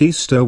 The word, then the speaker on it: Ishtar: a festival called Easter Ishtar which is pronounced Easter was a day that